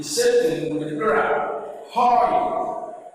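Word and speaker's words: οἱ: Hurry. Hurry. You pronounce the rough breathing from your throat. Hurry.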